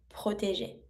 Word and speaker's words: protéger: And to protect, J sound, protéger.